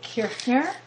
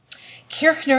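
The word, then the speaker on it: Kirchner: the leader of du brooka was an ludig kirner and by the way this is um a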